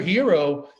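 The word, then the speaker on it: Herro: he threw down tyler hero and that's the right way to pronounce it i got in touch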